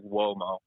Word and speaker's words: Uomo: Is it Billy Uomo? It's like whoa, like Womo. Womo. UO in Italian is like whoa, like a little, like just a little W, tiny one.